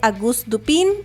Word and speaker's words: Auguste Dupin: Empezamos la semana pasada hablando de Auguste Dupin, así es como vamos a pronunciarlo, de el escritor estadounidense Edgar Allan Poe,